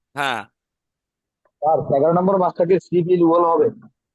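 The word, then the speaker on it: 십일월: না, এমনি তো বানানটা হবে শিবির ওয়াল, এটা পরের ব্যাপার। হ্যাঁ, স্যার 11 নম্বর মাসটাকে শিপ ইল ওয়াল হবে।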